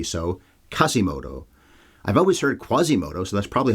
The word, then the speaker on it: Quasimodo: plot I should address kasimoto and the word Gypsy generally people seem to be saying the Q as a K in this movie so kasimoto I've always heard Quasimoto so that's probably how